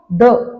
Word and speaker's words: the: तो यहां पे हम टीए एच ई को द प्रोनाउंस करेंगे।